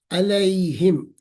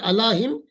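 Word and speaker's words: عليهم: यह छोटा लिखे अलैहिम. अला plus हिम will be नॉट अला हिम. It will be रेड एज अलैहिम.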